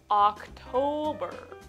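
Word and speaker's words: October: 10月。これは August とほぼ同じ発音です。最初の「O」は「A」、「Octo-」、「Octo-」です。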